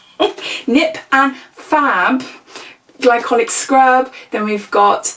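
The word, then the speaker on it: Nip + Fab: I keep saying that, it's not Nip and Flab. Nip and Fab glycolic scrub, then we've got the Gatineau, the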